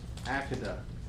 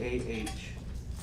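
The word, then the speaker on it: Akedah: have this thing and I don't know if I'm going to pronounce it right but I want to say it's AA it's a k e d a it's known as The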